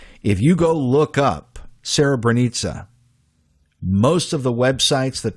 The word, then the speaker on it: Srebrenica: If you go online and you look this up, Srebrenica, it's spelled like Srebrenica, Srebrenica. That's the spelling. The CA is supposed to be almost like a ZA, almost like bonanza. Srebrenica.